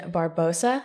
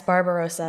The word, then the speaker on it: Barbarossa: then we have operation barbosa it's barbosa right barbarossa barbarossa what did i yes barbarossa we have one more syllable barbarossa i had it